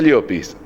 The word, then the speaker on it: Llopis: No, se pronuncia Llopis.